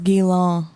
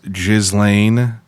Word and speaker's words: Ghislaine: I thought it was Guilin. No, it's called. I'm almost 99% sure it's pronounced Ghislaine Maxwell.